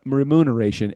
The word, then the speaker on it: remuneration: And then here it says remoon with an M. Remuneration is still the only correct version.